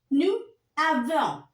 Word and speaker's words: nous avons: Nous avons. Vous avez. Ils ont, elles ont. Now I'll tell you one more thing. While pronouncing, if your noun is ending with S, so we read these two together.